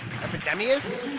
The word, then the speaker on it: Epydemius: Epydemius?